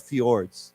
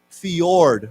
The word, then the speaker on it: fjord: when people think of Norway they think of fjords okay so why don't we say together this is a funny word it's it's spell it's pronounced fee Fjord like a y fee and then y-o-r-d y-o-r-d